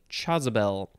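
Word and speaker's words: chasuble: It is spelled C-H-A-S-U-B-L-E, Jezebel.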